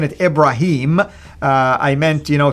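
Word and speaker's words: Ibrahim: it's actually with the the way the Quran pronounce it ibraim right and the idea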